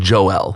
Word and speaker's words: Joel: my name it's always my mom says Joel my dad says Joel like you pick whichever one you want but I never knew